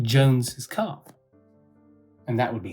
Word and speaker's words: Jones's: Jones Carr it would be appropriate if you pronounce it like Jones's car so I hope you can hear the